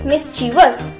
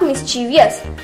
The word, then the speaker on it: mischievous: So the first word is mischievous, not mischievous. People often pronounce it as mischievous, but it is incorrect.